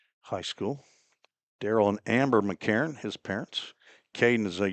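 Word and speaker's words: McEachron: MC and then E A C H looks like each each run R O N but he pronounces it McCarron.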